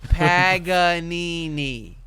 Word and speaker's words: Paganini: I didn't say Panini they say it a couple times they do Paganini Paganini Paganini Paganini so if if